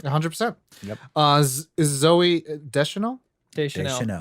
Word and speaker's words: Deschanel: Deschanel. Deschanel. See, yeah. I always want to make sure I'm pronouncing it right.